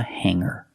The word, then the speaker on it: hanger: I hang my clothes on a hanger. Remember, hanger does not have a hard G sound. It's not hanger. It's hanger. Make the sound in your nose, and then hanger.